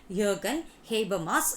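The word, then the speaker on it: Jürgen Habermas: see the pronunciation yoga jay as most often pronounced to be jurgen habermas in nineteen eighties for hebrew mass the modern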